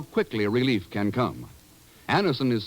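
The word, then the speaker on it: Anacin: what many thousands have known for years that Anison brings incredibly fast effective relief Anison is like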